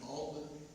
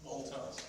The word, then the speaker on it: Althouse: Althouse, yeah. How do you spell that? Altman. Okay. It's Oh. Alt House, yeah, ALTHOU, sorry. yeah, it's house.